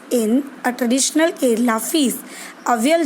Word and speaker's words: avial: He named it अवियल, AVIAL। See children, the pronunciation in English is also given in the bracket, UHVIUL, अवियल।